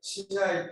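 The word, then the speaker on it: 竹刀: く竹の刀と書いてしないと読ませている。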